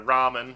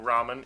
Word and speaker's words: ramen: called a flap and you essentially make a d sound but with your tongue up like that that um so that's